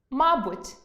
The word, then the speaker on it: мабуть: Наприклад, алфАвіт – алфавІт,веснЯний – веснянИй,зАвжди – завждИ,зокрЕма – зокремА мАбуть – мабУть, пОмилка – помИлка, тАкож – такОж, яснИй – Ясний Будьте пильними: інколи зміна наголосу призводить до зміни значення слова.